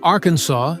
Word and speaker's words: Arkansas: Pronouncing Arkansas as Arkansas is mandated by Arkansas state law. This pronunciation stems from the French interpretation of the indigenous name for the region, reflected in the Aruwine-Whitest ending. In 1881, the state legislature passed a law honoring this French spelling and the indigenous pronunciation, cementing its use.